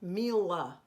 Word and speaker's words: Mila: the L in that Mila is a heavy L Mila Mila and the L in the male is a normal l Mila male just try it Mila male Mila male that's important pronunciation so some of you